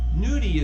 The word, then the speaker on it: gnudi: place of traditional dumplings nudie is spelled g-n-u-d-i and noki is spelled g-n-o-c-c-h-i so i call the dumplings